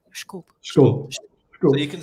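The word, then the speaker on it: desculpe: Disculpy. That is literally the first word I said. I'm apologizing all the time. The funny thing is that word is written like disculpy, and actually it's pronounced like schkulp.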